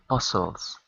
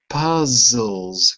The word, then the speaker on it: puzzles: last year uh uh puzzles puzzles with a z puzzles bules that's it not with an S with a z that's it and